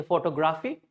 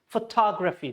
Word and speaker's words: photography: People say photography. That's how, natural break based on our natural or regional language. But this is photography. So tog should be clear.